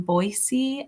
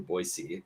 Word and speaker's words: Boise: I'm a client success manager at CareerArc, and I'm joining you today from Boise, Idaho.